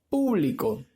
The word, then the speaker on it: público: Esta palabra lleva tilde en la antepenúltima sílaba, ¿verdad? Lo que la hace una palabra que es drújula.